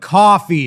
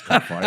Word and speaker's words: Ko-fi: on random stuff, but Coffee, it's pronounced coffee. whatever. I thought it was Ko-Fi.